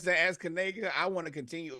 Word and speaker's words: Kanega: Please make sure you pronounce that as Kanega.